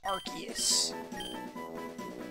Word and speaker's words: Arceus: So how's everybody feeling about Pokemon Legends Arceus?